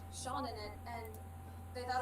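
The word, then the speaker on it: Seán: tick over it and everyone thought it was called sheen the s-e-n yeah some of my friends like read a book or something and someone has the name sean in it and they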